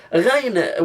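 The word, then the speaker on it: غين: Ghain, we overcomplicate Ghain sometimes. It's just how the R is pronounced in French.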